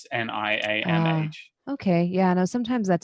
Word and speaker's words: Niamh: think I'm still like they spelled it Nieve, but it's Niamh.